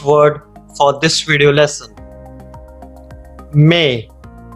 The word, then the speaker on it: mais: May. May. It sounds like a month May, which means but. May. There is a letter S at the end which we are not pronouncing.